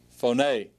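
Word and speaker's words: φωνή: word phone a and notice the stress is on the ADA phone a all right our phone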